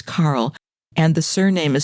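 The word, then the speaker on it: Karol: And he's listed as the name is spelled K A R O L like the girl's name, but it's not. It's Carl.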